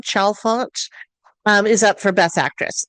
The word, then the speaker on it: Chalfant: And the actress who is in it, Kathleen I think it's Chalfant is how you say her name, Chalfant, is up for Best Actress.